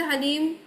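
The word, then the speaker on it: ह्लीं: हलीम बोलते हैं लेकिन हलीम होता है करेक्ट प्रोनाउंसिएशन।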